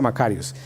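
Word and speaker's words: μακάριος: eh en original es una palabra que se llama macarios o que se pronuncia macarios y significa esto: bienaventurados, bendecidos y afortunados.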